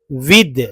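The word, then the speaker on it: with: अगला पार्ट्स जो है, पार्ट्स ऑफ वर्ड जो है विद, लोग विथ पढ़ते हैं। मैं बहुत जब छोटा था तब बहुत समय तक विथ ही पढ़ता था, विथ। आज भी लोग विथ पढ़ते होंगे, मुझे नहीं पता, लेकिन उच्चारण, इसका एक्चुअल उच्चारण विद है।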